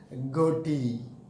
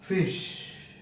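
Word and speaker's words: ghoti: wrong in your pronunciation this is not goaty but it is fish but it is fish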